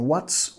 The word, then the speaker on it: what's: Nota la pronunciación, tenemos que pegar la T y la S en what's, what, movimiento de tu lengua acá, tocando tus encías superiores, what's, what's, soltándolo para pegar la S, what's the catch, y